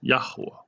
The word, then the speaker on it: Yahuah: And his name, again, having been all but erased from the Bible through tampering, is and always will be pronounced Yahuah.